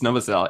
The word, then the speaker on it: Novosel: just so you know no it's it's noael it's novasel it is it is